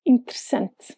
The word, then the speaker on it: interessante: Is there an E in the word outside of the queen syllable? If yes, you don't pronounce it. The word for interesting in Portuguese is a good example of that. Interessante. Since the queen is in sem, the other three E's just vanish.